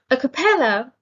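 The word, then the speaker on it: a cappella: vast wretched a compeller a capella has a stress on the third syllable it's an adjective and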